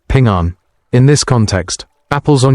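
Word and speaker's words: 平安: The word for apple in Chinese, ping, sounds like the word for peace, ping'an.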